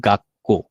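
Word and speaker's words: がっこう: double double উচ্চারণ হবে যেমন এখানে লিখা আছে গা ছোট সু এরপরে কহ তাহলে উচ্চারণ হবে গাক্কো কি হবে গাক্কৌ একটু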